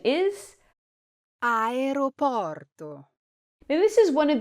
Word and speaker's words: aeroporto: You might hear Aeroporto, or you might hear Aeroporto, but the correct way to say it is Aeroporto. Say this with a smooth ro in the middle.